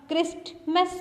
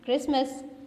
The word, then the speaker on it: Christmas: अब देखिए क्रिसमस की स्पेलिंग CHRISTMAS. आप क्रिस्टमस तो नहीं कहते ना, आप क्या कहते हैं? क्रिसमस. सो यहाँ पे T साइलेंट है.